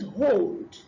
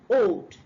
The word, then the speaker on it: hold: The next one is hold and not old. As if you say old, when you want to say hold, you're actually pronouncing something else.